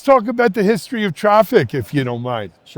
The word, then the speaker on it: Traefik: Let's talk about the history of traffic if you don't mind. Sure. You know again probably a traffic labs company that maybe a lot of our folks haven't heard of.